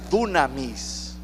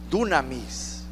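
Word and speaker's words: δύναμις: poder de su resurrección esta palabra poder en griego se pronuncia dunamis dunamis significa habilidad capacidad valor poder para hacer Milagros se lo voy a repetir esta palabra poder se pronuncia dunamis que significa habilidad capacidad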